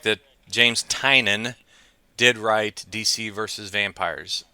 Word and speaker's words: Tynion: About 90% of the world out there Do, pronounces it either Tinian or Tynian, but it's well, Tynan.